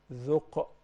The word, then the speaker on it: ذق: Once you see any of those letters with sukun, then we must shake it. When you shake it, that's called qalqala. ذق. Dhuq. Perfect. You say dhuq.